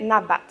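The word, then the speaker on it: נבט: il est écrit, mais ça se prononcerait nabat, N-A-B-A-T.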